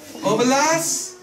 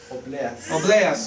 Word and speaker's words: obleas: Oblas de matzah. Obleas, sorry, wrong syllable.